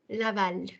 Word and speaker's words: Laval: Laval. The L in the end is Laval. pronounced. Yes, Oui, Laval.